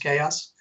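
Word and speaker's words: XAOC: AOC is the way it's spelled but it's pronounced chaos the antastic your Iraq company and of course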